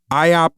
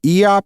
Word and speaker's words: Iop: So this warrior god, and I'm gonna butcher the pronunciation of this because I don't know if it's supposed to be IOP or EOP, but it's IOP.